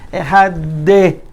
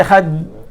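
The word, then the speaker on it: אחד: How you stretch the daled? By saying Ehad de. You added hey at the end. De. And you can't stretch it if you say Ehad. You're stuck.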